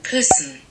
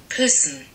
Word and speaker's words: Küssen: So this is how most native English speakers would pronounce this word. Küssen. Küssen. This is how, like, literally you would say it in English. But in German, you're not meant to say it like that.